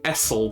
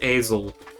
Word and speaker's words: Esel: Technically Essel, but it's pronounced Esel.